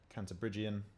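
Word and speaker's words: Cantabrigian: Canterbriggian, as I've been informed is the way to pronounce it.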